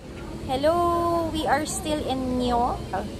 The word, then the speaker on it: Nyon: Hello, we are still in Nyo. Nyo pala yung pronunciation niya.